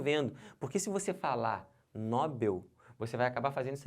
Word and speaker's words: Nobel: da Paz um prêmio Nobel em química e não um prêmio Nobel se você falar Nobel ferrou tudo errou tudo aí